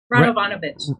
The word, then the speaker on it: Radovanovitch: Did I say it right? Almost. Radovanovitch. Radovanovitch. Okay, I got it.